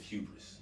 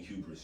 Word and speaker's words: hubris: other club online the brand is house of hubris h-u-e-b-r-i-s and i spell it that way um you know just to